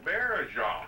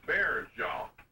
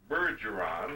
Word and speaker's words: Baillargeon: That's spelled B-A-I-L-G-E-R-O-N. That's pretty close, but it's pronounced Baillargeon. It's not Bergeron or anything like that. It's like, phonetically in English, we'd say Baillargeon, if you know what I mean.